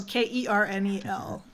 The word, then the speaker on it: Colonel: Oh, K-R-N-E-L, Colonel Sanders. No, Kernel.